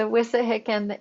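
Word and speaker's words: Wissahickon: right yes that's you thanks exactly right the wissa hicken in philadelphia in the city proper looked to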